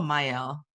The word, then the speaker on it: Miell: Is it Miell or Miell?